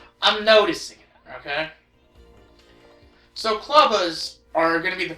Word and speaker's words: Clubba: maces, known only as Clubba. And yeah, I know what you might be thinking. Clubba rhymes with Tubba Blubba, doesn't it?